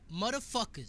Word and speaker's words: Mutafukaz: It's called MFKZ, but the actual name is Motherfuckers.